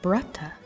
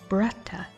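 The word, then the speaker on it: bratach: irish are you ready in irish you say flag as brata can you say it with me bretta great job now let's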